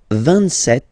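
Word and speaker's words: vingt-sept: 27. Remember set, it was this P disappear. You don't pronounce it.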